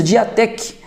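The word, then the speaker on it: διαθήκη: A que nos importa é a segunda palavra, que tem como pronúncia diatek, colocar por, e traz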